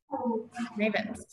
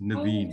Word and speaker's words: Nevin: Nevins. Yeah, Nadine, can I just correct you quickly? It's spelled Nevin, pronounced Nevin. Oh, sorry, Nevin.